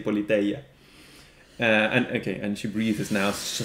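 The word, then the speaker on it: Πολιτεία: So yeah, you said Politia Platonas. In my pronunciation, okay, let's say mine, but okay, in the standard ancient Greek pronunciation, we would say Politeia.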